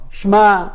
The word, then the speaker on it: Shema: Shema, it's not Shema, it's Shema. It's Shema with I, not Shema. Shema, it's not Hey or Aleph at the end. Most people say Shema Israel. Shema?